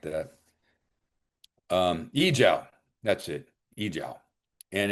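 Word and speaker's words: 阿胶: Yijiao, that's it, Yijiao.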